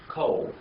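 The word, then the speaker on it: כֹּל: Coal.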